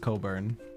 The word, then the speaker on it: Cockburn: I'm pretty sure it's pronounced Coburn. Is she Ellison as well? Because, yeah, then I guarantee you it's Coburn. But yeah. We'll say Cockburn.